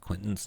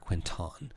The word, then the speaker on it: Quinton: until the end of quentin's next turn on a successful save a creature takes half as much damage and is not blind i think it's a quinton i'm pronouncing it wrong not quentin quinton but that's fun i'm